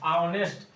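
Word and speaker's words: honest: लेकिन यहां पर उच्चारण हो रहा है आ की तरह। ऑनेस्ट ऐसे हो रहा है उच्चारण।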